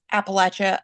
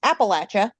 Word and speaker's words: Appalachia: episode is a play on how to PR pronounce Appalachia appropriately accurately um I know that a lot